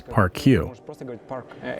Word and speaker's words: PARQ: So yeah, actually the idea is that you don't have to pronounce it as PARQ. In English, you can just say PARQ, without placing emphasis or the accent on the Q.